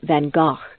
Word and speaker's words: Van Gogh: Although most people refer to him as Van Gogh, the true pronunciation of his name is Van Gogh.